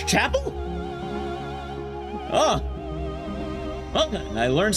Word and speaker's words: Chappell: How the do you pronounce her name? Chapel. It's Chapel.